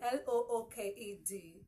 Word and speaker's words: looked: E looked looked looked it has a t sound at the end not a d we have other words